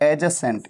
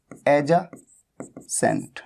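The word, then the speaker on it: adjacent: एडजेसेंट, इसकी pronunciation होती है एडजेसेंट, एडजेसेंट। ठीक है, यहां पर डी साइलेंट होता है, तो ये आपको नोट कर लेना है।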